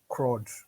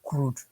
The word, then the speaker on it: CRUD: or Android, you probably come across the word CRUD or crude or any way you want to spell it.